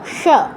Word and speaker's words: স: তো এদের উচ্চারণের ক্ষেত্রে জিহ্বার অবস্থান, দন্ত স উচ্চারণের ক্ষেত্রে জিহ্বার অবস্থান একদম একই হবে, সা, সা, সা, এরকম। এটার তুলনা, মানে বোঝার জন্য আপনি তুলনা করতে পারেন ইংরেজি অ্যাসের সাথে। অ্যাসের উচ্চারণটা যেমন, দন্তস্বর উচ্চারণটাও তেমন।